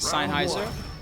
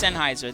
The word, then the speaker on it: Sennheiser: Thanks to the fine folks at Sheiser. Sennheiser. Is it Sennheiser? Somebody was making fun of me earlier. Sennheiser. Is it Sinheiser? I'm saying Sheiser. It's Sennheiser. That's the correct way to pronounce it.